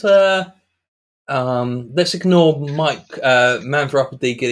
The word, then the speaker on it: Miek: my name is mike which is pronounced mike or mayek not meek which everyone incorrectly pronounces uh i'm from new